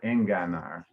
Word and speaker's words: enganar: and just up from that at the beginning of verse 8, you pronounce the G softly, but it's enga. It's a hard enganar.